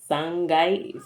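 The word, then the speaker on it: さんがい: The only difference is Sangai. Sangai So it doesn't take kai, it takes guy. Just a pronunciation difference.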